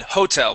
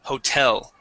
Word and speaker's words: hotel: No, you had said hotel, putting the accent at the very beginning. Okay. Mm-hmm. The accent goes at the end. The word is hotel.